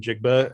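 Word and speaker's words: Njigba: and a number two uh how do you pronounce the ohio state receiver's name jigba uh uh jackson smith and jigba yeah yeah jackson smith and jake but so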